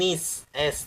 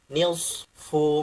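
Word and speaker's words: نصف: ya izhar syafawiakum Bukan Nis S tapi Nisfu maoka ro maoka Az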